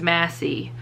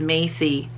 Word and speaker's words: Massey: so now i'm like i know it's massey but because i saw that other people have mispronounced it as macy now my brain is